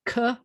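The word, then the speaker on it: כנען: So it's Ka-na-an. The way to say Canaan is Canaan. That's Canaan, Canaan. And that's why they got the 2 A's in there.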